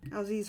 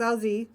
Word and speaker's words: Alsace: I actually Googled how to say this region in France, and I did not write it down. Alsace, France. So it's Alsace.